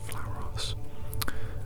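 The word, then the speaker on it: Flauros: a Slayer of man here we have flowers apparently that's how it's pronounced flowers looks like a sort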